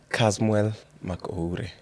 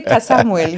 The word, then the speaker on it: Kasmuel Mc'Oure: Kasmuel Mc'Oure. I said it right? You did. Oh my goodness. Yeah, you got it. I thought you were going to cuss me No, out. no, you got it. People say Kasamuel.